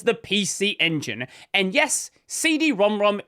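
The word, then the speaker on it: CD-ROM²: And yes, CD-ROM-ROM is the official pronunciation. Not CD-ROM-Squared. Not CD-ROM-2. CD-ROM-ROM.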